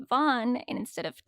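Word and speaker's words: van Ree: were saying re but apparently van is pronounced Vaughn and instead of Tasha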